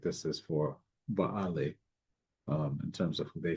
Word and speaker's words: Baal: And down through the passage of time, we understand that that is for Baale, or commonly pronounced as Bel, but Baale, according to phonetic construction.